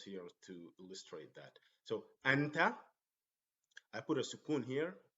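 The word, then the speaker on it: أنت: So see, anta. So we hit the break. And we don't go anet. Say anta. So this is the first syllable. An, that's the first one, and then ta, the second syllable.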